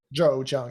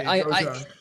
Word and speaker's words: Zhou Jiang: Joe Jiang. So I Joe think Jiang. of Joe like the name Joe. Yes. That's the Yeah. first part. That's easy to remember for me. Joe Jiang.